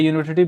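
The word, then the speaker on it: university: ये सभी जो है, ये यहाँ पर देखो, ये यूनिवर्सिटी, ये यूनिवर्सिटी because it sound like you. यहाँ पर देखो इसका साउंड कैसा है? यू है ना। तो वाई से स्टार्ट हो रहा है जो साउंड है,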